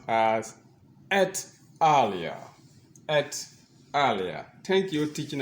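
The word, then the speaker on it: et al.: e l in uh APA research it is pronounced as at eara at eara thank you teaching assistant that was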